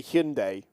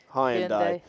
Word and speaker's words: Hyundai: it's like how we're we're now supposed to say Hundai rather than Hy andai been lied to my